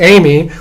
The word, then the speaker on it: AMI: However, I don't know how you pronounce that. Yeah. Actually, we agreed that this should be Amy because it would fit best.